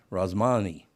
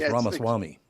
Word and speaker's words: Ramaswamy: That's the reason why I didn't bring up how to say it, because you said Vivek Ramaswamy, and his name is Ramaswamy.